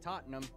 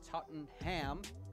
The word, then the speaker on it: Tottenham: As a fat American, why would you not emphasize the ham? I would like to go to Tottenham and order a Tottenham.